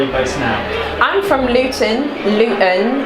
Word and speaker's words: Luton: I'm from Luton. If you're actually from Luton, you don't pronounce the T.